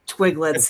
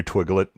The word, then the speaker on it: Twiglet: Don't you shut up, you Twiglet. What'd you call me? Hey, It's with a a small hard, twig. hard G. Yeah, you gotta have the hard G.